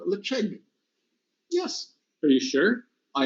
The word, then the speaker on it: Ledaig: I think everybody said Ledaig. That's my guess. But that is not how it's pronounced, because this is a Gaelic name and it's called Ledaig.